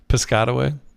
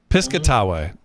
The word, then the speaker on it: Piscataway: how do how do you say it pway Piscataway Piscataway saying it like that and I gotta take